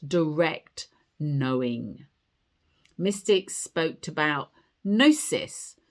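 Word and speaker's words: gnosis: Mystics spoke about nosis spelled G N O S I S.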